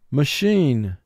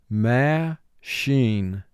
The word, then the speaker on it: machine: mark the word re-send machine machine the machine made a loud noise ma sheen two syllables first syllable ma two sounds um ah sheen three sounds sh sheen mark the word ma sheen